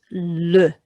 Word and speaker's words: le: The word for the, if it's masculine, is le. E in a short word is making the sound e. So le monstre.